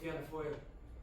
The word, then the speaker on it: Fianna Fáil: Called Fianna Fáil. The name is spelled like the English word fail, but foil in Irish means destiny.